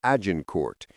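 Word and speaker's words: Agincourt: On October 24th, 1415, near the village of Azincort, which the English would pronounce as Ajin Court, the English army finally came to face to face with the French host.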